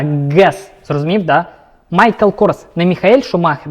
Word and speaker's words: Guess: Но запомните, не путайте Guess. Жесткий Г. Гава, Крыльцо, Guess.